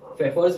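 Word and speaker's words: Pfeffer: तो फेफर्स method, P silent है, फेफर्स method है, सेकंड है मॉर्से एंड फ्रेजर्स method, and third is the most important, Berkeley and Hartley method.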